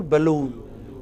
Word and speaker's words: balloon: can you give me another example where a stress is on the final syllable balloon can you give me